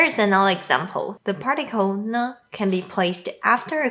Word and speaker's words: 呢: The particle ne can be placed after a question to make the question sound softer and more polite. And when it's used in a question, it's pronounced with a high pitch.